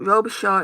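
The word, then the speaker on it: Robichaud: it um via Tammy robishaw um robishaw is spelled i o b i c h a u d um I'd go and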